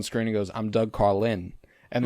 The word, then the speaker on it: Carlin: And then he comes on screen and goes, I'm Doug Carlin. And like there's an emphasis on the Lin that I really love.